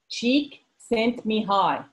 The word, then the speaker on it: Csikszentmihalyi: name it's cheap sent me hi me keV cheek sent me hi she sent me hard he is a god